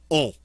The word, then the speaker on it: ont: they form, is ils ont. O-N-T. Ont. Again, we're not going to pronounce that T. It's a final consonant. That leaves us with the O-N, which is that nice nasal on sound.